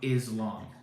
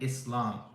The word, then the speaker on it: Islam: before I was Muslim it's not Muslim it's not Islam it's Muslim and Islam there's an S it's not a z I don't know